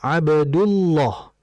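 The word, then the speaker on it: عبد الله: Jika dal memiliki dhammah harakat, maka lam menjadi kental. Sebagai contoh, "Abdullah." Kita tidak bisa membacanya sebagai "Abdullah." Karena aturannya adalah huruf lam dalam Allah harus dibaca tebal. "Abdullah."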